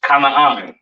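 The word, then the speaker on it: כנען: This is pronounced Kanaan, all right?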